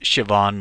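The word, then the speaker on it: Siobhan: her name is pronounced Shian like that name looks like cobon but it's an Irish name and uh yeah has a weird pronunciation but it's sioban and so I'm giving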